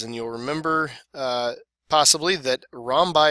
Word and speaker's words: rhombi: you'll remember possibly that rom by is the plural of the word rhombus just just how they how they pronounce the the plural of that word so if you have more